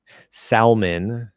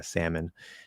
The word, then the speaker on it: salmon: When you hear people pronounce the L in salmon, yeah, salmon, does it strike you as strange or blatantly wrong? Yes, it absolutely does. It stands out like a sore thumb.